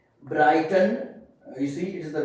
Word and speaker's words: Brighton: After I, GH is silent, okay. I mean these both letters are silent. Like Brighton, you see it is the middle of the word, okay.